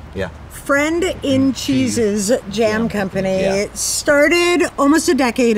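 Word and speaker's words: Friend in Cheeses Jam Company: Like, what was the genesis of Friends and Cheese Jam Company? I'll never say it right. Yeah. Friend in Cheese's Jam Company.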